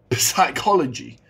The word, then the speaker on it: psychology: realize that psychology psychology but why is it not psychology it starts with a P psychology guys we have had silent L's silent RS silent K's and Silent s's but right now we got a silent p i can every English